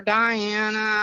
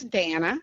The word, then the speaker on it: Danna: know people call me Dana or Diana or and stuff like that and some people never bothers me I'll never correct you but my name's Dana yeah and that's important